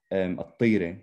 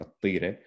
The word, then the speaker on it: At-Tire: And I remember when I first saw this, so my family comes from the city of Tira, At-Tire, we would pronounce it today, you know, in Arabic, At-Tire.